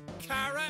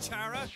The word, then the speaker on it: Chara: I should probably start pronouncing my character's name as Kara as well instead of Chara, because it's supposed to be short for character.